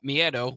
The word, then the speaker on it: miedo: new era for Penta with his catchphrase, Cero Miedo, which means zero fear.